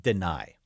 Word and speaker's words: Dani: It is not Danny Dennis Sutton. It is spelled D-A-N-I. He says it deny.